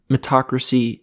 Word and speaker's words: meritocracy: a real thing, but let's say it's isn't meritocracy.